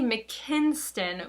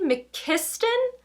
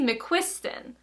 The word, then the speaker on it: McQuiston: this entire time, so it's not Casey McKinston, which I thought it was. It's Casey McKiston or Casey McQuiston. I'm not quite sure, but there's no N involved in the middle of